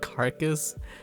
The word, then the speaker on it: carcass: You thought of carcass? Oh no. And the problem with this, the problem with carcass is that this is a different ka sound. Carcass and cake, they're different a sounds.